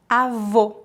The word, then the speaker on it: avô: O O fechado pronuncia-se como a letra O na palavra old em inglês. Old, avô.